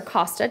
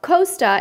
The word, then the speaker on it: Costa: a bar so next Costa Cruises our Kosta depending on how you like to pronounce that has many many ships that offer them and from what we hear about Costa is that the cabins